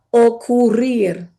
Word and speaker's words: ocurrir: Entonces, este verbo se pronuncia ocurrir.